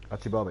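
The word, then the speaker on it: Achi Baba: Achibaba, yeah. Like Alibaba? Yeah, I think that's right.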